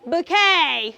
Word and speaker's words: bouquet: book you should say you should say bouquet bouet okay which other word